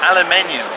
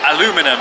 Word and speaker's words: aluminium: it's a different material this material is aluminium or aluminum as the Americans say so this uh material